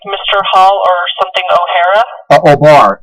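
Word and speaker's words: O'Bar: you said like mr hall or something o'hara oh bar it's spelled o and then it's got that uh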